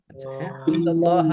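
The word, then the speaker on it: إلا الله: ইল্লাল্লাহ ইল্লাল্লাহ ইল্লাল্লাহ বললেও ঠিক আছে আমরা যদি এখানে ওয়াকফ করি তখন আমরা বলি ইল্লাল্লাহ ইল্লাল্লাহ নারুল্লাহি নারুল্লাহি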